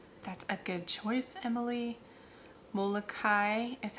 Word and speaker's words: Molokai: Molokai is how you say that.